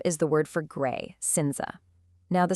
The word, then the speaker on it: cinza: That C at the very beginning, it just acts like an S, pronounced exactly like the English S in sun.